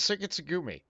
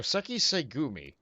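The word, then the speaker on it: Sekiseigumi: Ah, so it is how it's pronounced, I just didn't know. Why did I think it was Sekitsugumi? The verbiage is all in the wrong place for that. So, Seki Segumi. Got it.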